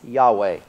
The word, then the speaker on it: Yahweh: But according to Unger, the strong possibility is that the name Jehovah was anciently pronounced Yahweh.